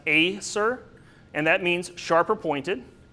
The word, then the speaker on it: Acer: our red maple so for two syllable words it's always going to be the first syllable that gets enunciated so here it would be pronounced Acer and that means sharper